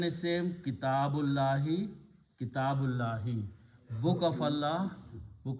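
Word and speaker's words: كتاب الله: So we pronounce Kitabullahi. Okay, the full correct pronunciation is Kitabullahi. If we stop, we can say Kitabullah. But if we continue reading, it will be Kitabullahi.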